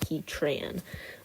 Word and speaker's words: Heatran: he Tran he Tran and yes I do pronounce it Heatran um so for Heatran he doesn't want to